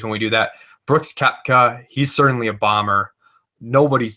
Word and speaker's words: Koepka: I don't know if you guys have any thoughts on Koepka before we move on.